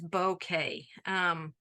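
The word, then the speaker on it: bokeh: So one of my favorite techniques to do is bouquet. It's pronounced like a bouquet of flowers, but it is a Japanese word.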